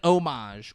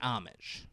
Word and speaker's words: homage: it was what an homage, or she was paying homage. Okay, yeah, it's the way that you use it. Yeah, okay, but you do not pronounce the H.